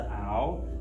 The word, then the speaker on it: aisle: So this is the aisle, which is the walkway or the passageway. So now, an aisle has the letter S, but the S is silent. You don't pronounce ounce. You just say an aisle, okay?